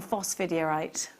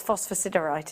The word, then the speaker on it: Phosphosiderite: For £17.95, you have got Revive, Garnet and Phosphidierite. Phosphosiderite, we're saying it wrong. I've just remembered. It's Phosphosiderite, isn't it?